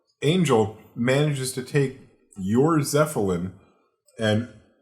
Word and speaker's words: Zeppelin: Angel manages to take your Zeppelin and... Because Zephaniah, it's called a Zeppelin.